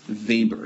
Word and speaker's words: Weber: his name is max weber yes i know that's a w but he is german and so you pronounce w as a v right so here's max